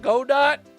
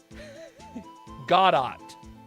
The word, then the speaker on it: Godot: It's not Godot? Godot.